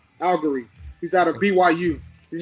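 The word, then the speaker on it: Allgeier: people don't know about tyler allegro i was mispronouncing his name tyler uh algary he's out of byu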